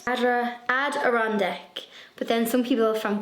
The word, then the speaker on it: Adirondack: people had commented with the correct pronunciation for the adder on deck adirondack chairs ad iron deck but then some people